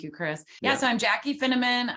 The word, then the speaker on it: Finneman: So I'm Jaci Finneman. I always say it rhymes with cinnamon, but I'm a spice girl, Midwest Minnesotan from a family of 5, but a larger family.